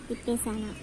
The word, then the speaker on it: tippesana: So this sa is pronounced as in phonetic word like this, tippesana.